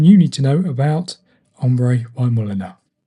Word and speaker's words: ombré: And that is a word of French origin that stands for having tones of colour that shade into each other, graduating from light to dark.